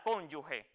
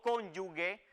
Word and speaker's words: cónyuge: el cónyuge o la cónyuge y como escucharon esa es la pronunciación adecuada de este término cónyuge y no conyugue como a veces se oye indebidamente en determinados ámbitos por esa razón también